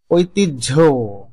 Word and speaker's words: ঐতিহ্য: হ এর সঙ্গে জফলা যুক্ত হলে হ বর্ণটির নিজস্ব কোন উচ্চারণ থাকে না।